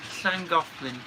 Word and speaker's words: Llangollen: Jen, would you guys visit the Llangollen Railway in Wales? I have visited it in the past, and yes, Did I I would pronounce go it right? Llangollen.